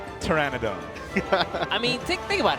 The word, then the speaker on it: Pteranodon: We run the gamut here on how to pronounce this card. Petradon, paternodon and the correct way. Pteryannodon.